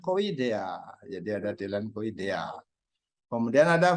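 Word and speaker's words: -idae: Dea jadi ada dilanko idea kemudian ada family idae membacanya ide kalau Super Family tapi membacanya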